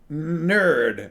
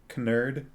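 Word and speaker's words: knurd: sober he's really sober nerd they call it k-n-u-r-d maybe i should pronounce the k nerd you know how you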